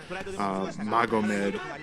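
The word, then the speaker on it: Magomed: say the guys name how it should be pronounced Mago med and said in McDonough Braga's rainin down some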